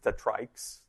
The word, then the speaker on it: TriKE: No, so we call them, they're hard to pronounce, TriKEs. It's really TriKE.